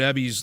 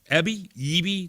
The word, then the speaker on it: Eby: Boxcar Philly says, I wish you learned to pronounce David Ebby's last name correctly. It's starting to bother me. Other than that, love you. Who cares? Who cares what Dilly Dave and how I pronounce his name? Eby? Do I got to really pronounce it Eby? Do you really care? Like, such a small thing to actually get upset about. Eby versus Ebby.